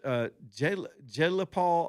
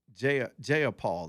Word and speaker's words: Jayapal: This Jayla Paul, I always forget her first name. I think she was one of the original squad. Y'all know who I'm talking about. The Indian uh, Democrat Jayapal. That's how you say it.